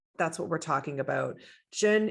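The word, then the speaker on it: Zhen: what we're talking about jen is spelt z-h-e-n sorry z-h-e-n for americans and um it is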